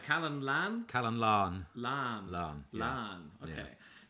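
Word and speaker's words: Calon Lân: So this song is, am I pronouncing it right? Calon Lan? Calon Lan.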